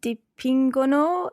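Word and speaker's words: dipingono: a go ee bambini di pingono in kuchina wow perfect and there we've got the pingo no the heart g sound of course even though it's deep injere but it's followed by an o in the ping or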